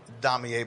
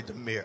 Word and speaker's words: Damier: We pronounce it Damier, but it's really Demir.